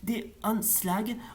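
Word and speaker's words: De Aanslag: Glass, Hanstra en 1959, L'assaut des attendez, en hollandais traditionnel, ça se prononce des Anslag en 1986, Antonia et ses fils en 1995 et Carateur sorti en 1997.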